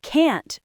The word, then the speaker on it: can: But if you use the rhythm of fluency, the positive form uses a short quietwah. I can do it. And the negative form uses a strong wide vowel. I can't do it.